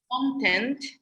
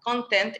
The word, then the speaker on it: content: is different one is content so the the stress is on the first syllable content is as you said